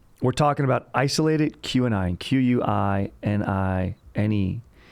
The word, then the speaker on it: quinine: We're talking about isolated QAnon, Q-U-I-N-I-N-E. Quinine?